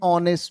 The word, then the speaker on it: honest: H is silent. O means O sound is coming. An honest man.